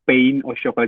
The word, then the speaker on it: pain au chocolat: Ya, mungkin ya biasanya bacanya pain au chocolat. Jadi bukan pain itu sakit ya teman-teman. Pain itu pain, itu artinya roti.